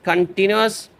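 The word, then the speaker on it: continuous: इसको भी इसकी प्रोनाउंसिएशन गलत पढ़ते हैं लोग, कंटिन्यूअस, ठीक है, वो गलत है, टी पे आपने स्ट्रेस देनी है, कंटिन्यूअस, कंटिन्यूअस मुसलसल, एज द स्टार्स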